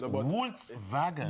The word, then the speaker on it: Volkswagen: It's Volkswagen. Volkswagen. Yeah, Oh, because the Volkswagen. W is spelled as a V, yes.